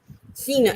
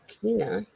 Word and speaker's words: Cena: newberry massachusetts john cena cena how do you say it it's a soft it's a soft see what well yeah i wouldn't say keena it just makes me